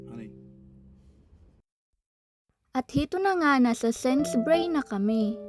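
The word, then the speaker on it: Sainsbury's: Ato na nga nasa Sense Bray na kami. Sense Bray yun po ang pagbigkas nila dito. Hindi po Sense Bay. Silent you.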